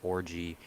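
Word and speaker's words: Orji: be that good this year they got Alex orgy uh and that's that's how you say his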